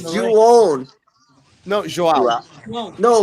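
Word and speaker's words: João: It's Juon. No, Joao. No, when you pronounce a Brazilian person name, it's Juon.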